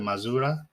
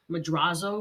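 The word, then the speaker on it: Madrazo: a scene with Michael when he meets Mr mazura is that how you say his name madraso madraso thank you uh and he gets hit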